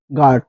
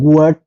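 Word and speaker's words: guard: সেক্ষেত্রে কিন্তু এই আমরা ইউ টা উচ্চারণ করবো না সেটা অনুচ্চারিত হবে এবং ইউ টা সাইলেন্ট থাকবে যেমন জি ইউ এ আর ডি গার্ড এখানে কিন্তু আমরা কেউ গুয়ার্ড যদি বলি সেক্ষেত্রে কিন্তু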